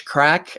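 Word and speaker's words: craic: case lots of uh irish crack and some australian crack and usa crack c-r-a-i-c we make sure we always spell it the album again is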